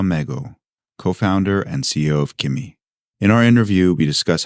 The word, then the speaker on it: Qimi: We just walked through your pitch deck for Kimi, which I should point out is spelled Qimi, in case folks are trying to look it up.